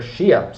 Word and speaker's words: Xia: follow so but nonetheless it's Western Shia but it's spelled x i a so the Western Shia also known as the